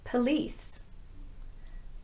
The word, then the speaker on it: police: sound policy not policy police police this word uses the unrounded uh sound and it's the shorter schwa vowel because it's in the unstressed syllable police not police home home